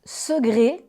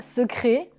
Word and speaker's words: secret: Le C se prononce quelquefois comme un G. Ainsi on prononce segré et non pas secret. Second et non pas ce con.